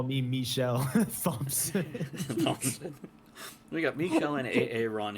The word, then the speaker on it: Thompson: Travis Sivart and Michael Thompson. Thompson. Hey, you guys! It's that semi-silent P at the last. Apparently, it's that silent H that's the problem. The silent H.